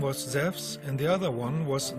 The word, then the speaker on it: Zeus: The name Zeus is actually a wrong English translation, because correctly he is called Zeus. In the Greek language, E and U is pronounced like a W in the word wisdom.